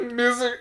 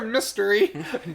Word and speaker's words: mystery: Yeah, man of misery. Man of misery. That's what you said. You didn't pronounce the T in Well, that.